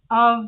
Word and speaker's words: of: Esse off, né, que é OF, um F só, a gente pronuncia como se fosse OV. Então a gente fala sweet child, né, criança child, sweet child of mine. Of, como se fosse um V, não um F, ok?